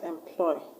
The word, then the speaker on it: employ: The word employment is from the word employ. The word employ, is it a verb or a noun? Is a verb. So the stress will go where? To the second syllable, ploy.